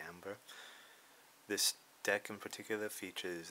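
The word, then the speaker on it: Æmber: that helps cavalry so there's been some debate on how that word is pronounced I just say amber some say amber others say amber this deck in particular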